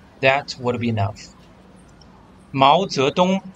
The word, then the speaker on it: Mao Zedong: Mao Zedong is how we pronounce in Chinese with intonations.